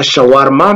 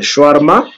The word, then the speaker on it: shawarma: s'appelle comment c'est shawarma, que les Congolais malheureusement prononcent mal en disant shawarma, mais c'est le shawarma.